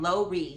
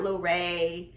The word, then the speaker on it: Lori: laurie candles um and lori that's how you pronounce it not larae or however you thought it's low re candle co aka richly